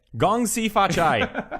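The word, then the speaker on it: 恭喜發財: you just did it gong SI fat Chai that's how you say it anyway uh the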